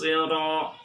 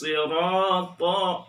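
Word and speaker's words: صِرَاطَ: Awas jangan tertukar huruf shadnya menjadi sin.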